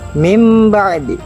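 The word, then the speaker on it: من بعد: Contoh: mim ba'di. Mim ba'di dari kata min dan ba'di. Mim ba'di. Nun sukun bertemu dengan ba. Nun sukun diubah cara bacanya menjadi mim.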